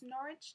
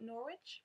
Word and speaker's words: Norwich: my home town in England and it's actually pronounced Norwich not Norwich but that's just me being very pedantic I